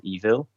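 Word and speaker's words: Eville: was on tablet and so this game's called evil um and that's how it's pronounced even though it's spelled with a double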